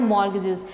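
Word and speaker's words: mortgages: यहाँ पर स्टूडेंट्स जो वर्ड है ना मॉर्गेजेस, यहाँ पर टी वर्ड साइलेंट है, ठीक है, आप लिखते हुए ऐसे लिखोगे, लेकिन जब हम इसको पढ़ेंगे तो हमने इस वर्ड को ऐसे पढ़ना है मॉर्गेजेस।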